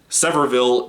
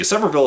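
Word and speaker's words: Sevierville: people six one one parkway their one word severville tennessee semperville is spelled s-e-v-i-e-r-v-i-l-l-e tennessee like i said in the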